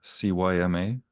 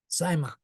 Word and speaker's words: cyma: How do we pronounce the CYMA? Cyma.